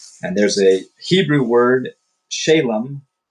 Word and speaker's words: shalom: And there's a Hebrew word shalam or shalom. S h a l o m. It means uh peace. Shalom. There it is. I don't know why. Hello. You read the word and then you forget how it's said. Shalom.